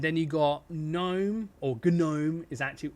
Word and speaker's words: GNOME: bottom left, and then you got GNOME, or GNOME is how it's actually pronounced. GNOME.